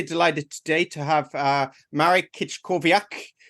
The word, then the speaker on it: Marek Kiczkowiak: today to have uh Marik kit kovak uh how did I do marrick on that one you're pronouncing your name okay perfect perfect it was spot on thank you so it's